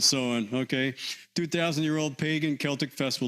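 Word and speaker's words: Samhain: All right, so Sam Hayne looks like, but yes, blame the Irish. They pronounce it sewing.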